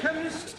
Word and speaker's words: chemist: me k e n chemist does not begin with a k it sounds like it begins with k CH H but that